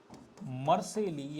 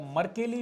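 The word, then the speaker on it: Mercalli: एक रिक्टर पैमाना और दूसरा मर्सेली या मर्केली भी लिखा हुआ रहता है, वो प्रोनाउंसिएशन का अंतर है।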